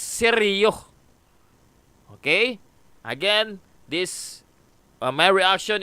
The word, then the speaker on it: Sergio: the correct pronunciation of your YouTube channel, the pronunciation of former President Osmeña is not Sergio, but it's Sergio.